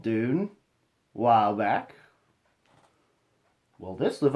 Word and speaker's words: DVNE: void kind by Dune as it's pronounced last time I talked about them I was a little trouble because I didn't fully cuz initially I thought it was divine but just without an eye but it's should